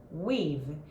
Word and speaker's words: we've: E a pronúncia de weave, que é a contração de we have. We have, a gente vai falar weave.